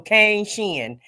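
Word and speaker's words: Kane Shin: saying it correctly yeah it's Kane and shin like the shin bone on your leg so K Shen okay I got it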